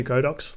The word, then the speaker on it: Godox: I was going to ask, are you shooting a Godox lighting kit at the moment?